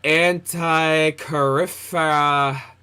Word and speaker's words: Antikythera: The antikythera, yeah, that's how you say it, mechanism.